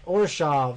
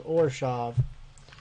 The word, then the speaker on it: Orzhov: Are you going Orzo or I don't remember how to pronounce it. I watched the video on how to pronounce it and now I can't remember and I feel kind of dumb. Hold on. Now I'm going to have to look it up. Hold on. I'm going to look up how to pronounce it because I'm an idiot. Ravnica Allegiance Mechanic Spotlight, the Orzhov Syndicate. Orzhov, that's what it was.